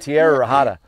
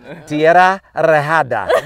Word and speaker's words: Tierra Rejada: Well, that's one of my students told me how to say it that way. Oh, so you right? have to. I went Tierra Rejada. No. Tierra Rejada.